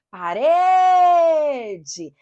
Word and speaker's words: parede: Chame a palavra. Faça de conta que a parede está passando do outro lado da rua. Você chama parede. A sílaba que se alonga é a sílaba tônica.